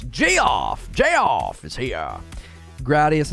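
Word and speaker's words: Jeoff: figure it out uh how is my name pronounced Jeff j-e-o-f-f-g-off it's Jay off Jay off is here gradius and stuff used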